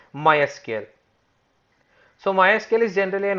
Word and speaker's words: MySQL: to the history of mysql generally mysql is officially pronounced as my sql so generally it is